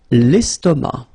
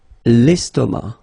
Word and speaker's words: estomac: L'estomac. L'estomac, okay, same thing here, final C not pronounced, and then M means that this word, estomac, is masculine, okay?